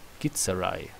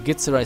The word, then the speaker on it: Githzerai: Know that I am a how do you pronounce that? Githzerai.